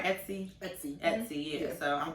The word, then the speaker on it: Etsy: Etsy.